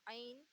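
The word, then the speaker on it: عین: फिर आएगा आइन, इसे बोलते हैं आइन। आइन यानी आ, और इस पर नुक्ता लगाएंगे तो ये हो जाएगा गैन, यानी गा।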